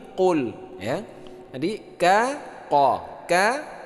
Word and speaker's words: Qul: salah tapi Mi Qul Qul ini bukan KL tapi Qul Ya jadi ka qo